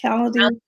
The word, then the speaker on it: Calendly: How do you pronounce it? Calendly.